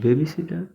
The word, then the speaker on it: babysitter: makes sound like my babysitter my babysitter sitter and not pronounce this T, and because this T is flap T, yeah, so that's why this T is not pronounced in this word.